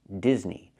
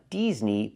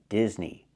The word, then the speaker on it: Disney: famous Disney movie Frozen the word or the name is pronounced Disney not Disney but Disney I cannot use the long e sound like green beans Disney I need to short sound like this is Disney Frozen is a famous